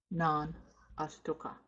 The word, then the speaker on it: nanastuka: And this is how we pronounce na nastuka. Na nastuka is non-astuka. Non-astuka.